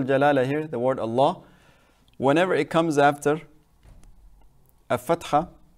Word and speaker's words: Allah: Allah Subhanahu WA Ta'ala in the word Allah it's heavy so we say only who a long a long is gonna ship that sound should fill your mouth right it's a heavy